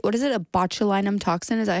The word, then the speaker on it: botulinum: ingest a toxin right what is it a botulinum toxin is that how you pronounce it yeah it sounds very scary so